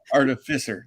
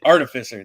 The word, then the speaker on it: artificer: head about it but artificer ability uh artificier that's it artificer there we go I always put the emphasis on the wrong syllable but anyway uh can